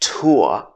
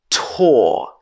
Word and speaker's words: tour: So this has two pronunciations. Either it can be pronounced tour or it can be pronounced tour. Another word is sure.